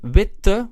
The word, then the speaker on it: wit: a long fashion however wit in the original adjective is pronounced short so we need to